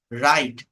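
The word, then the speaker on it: write: হচ্ছে নাইট নি হাঁটু ডাব্লিউ এর পর এইচ অথবা আর থাকলে ডাব্লিউ এর উচ্চারণ হয় না যেমন ডাব্লিউ আর আই টি ই কথাটা বোঝেন তাহলে এখানে আমরা বলছি রাইট ডাব্লিউ দিয়ে কোন শব্দ কিছু বলছি জাস্ট ডাব্লিউ স্কিপ করেন আর আই টি ই রাইট আর ও এন জি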